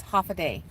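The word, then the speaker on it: Håfa adai: you're talking about uh you know at minimum half a day so that's that's what they say no that is not why we say stop it the way we say hello and Guam is half a day but many times you know a lot of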